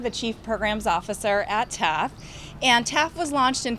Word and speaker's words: TAAF: and we're so excited to partner with TAAF, TAFF. Am I saying it right? Yeah. Okay. TAFF on this exciting work, and Georgette will be